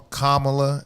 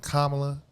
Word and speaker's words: Kamala: So anytime you hear these white folks, especially these white women who purposely call Kamala instead of Kamala, you know what I'm saying?